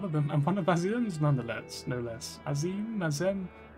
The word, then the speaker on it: Azem: All the long years I resided here, never have I encountered such a unique entity, and one of them, I'm one of Azim's nonetheless, no less.